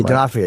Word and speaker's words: D'Onofrio: D'Onofrio, yeah.